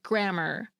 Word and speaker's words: grammar: louder, or higher pitch, as in grammar, where the first syllable is stressed, or elision, when the second syllable is.